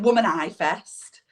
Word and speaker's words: Womanifest: Is it Womanifest? No, it's Womanifest. All right, so it's almost like a spin on manifesting, right?